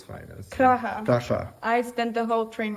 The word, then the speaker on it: Praha: Praga at its finest. Praha.